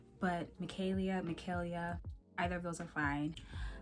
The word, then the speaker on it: Micaelia: My name is Micaelia, or you can say Micaelia. Either of those are fine, but my name is not Micaela, so I won't respond to that. But Micaelia, either of those are fine.